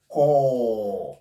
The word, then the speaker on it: corps: Core. It doesn't contain P. It doesn't contain S. We pronounce it as core. The two sounds the two letters letters P and letter S are completely silent.